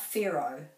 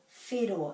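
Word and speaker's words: whero: is fiddle so this is definitely not pharaoh fair raw fero and so the r is rolled again and the o is o the o is always or it's never o fair fero again we really need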